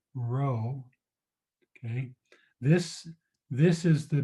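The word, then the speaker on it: rho: actually the Greek letter row so let me write it r h o is the way that it's pronounced so from now on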